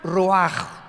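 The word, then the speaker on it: רוח: 29 es la palabra se escribe ruach como suena con r de Raúl ch al final rach y se pronuncia raj Entonces cuando hablamos de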